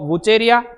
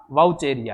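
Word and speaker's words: Vaucheria: जेंथोफाइसी, जेंथोफाइसी के बाद अपन बात करें तो वुचेरिया, जिसको अपन वुचेरिया बोलते हैं लेकिन सही उच्चारण इसका वाउचेरिया है, ठीक है, वाउचेरिया।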